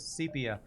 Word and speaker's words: sepia: you go I've been wrong all these years sepia I will not remember that but thanks for